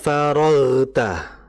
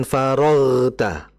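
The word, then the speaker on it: فرغت: Jadi jangan kita baca seperti ini. Faidza faragta bukan faragta.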